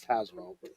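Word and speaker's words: Tazewell: was thinking it was we say Taswell it's that's tazwell well I may be pronouncing it wrong you know it's okay no you're right there's no e in there but for some reason my family says tazwell okay well that's old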